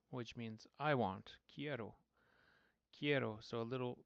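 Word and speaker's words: quiero: k eroo k k and the qu makes a k sound in Spanish just as a reminder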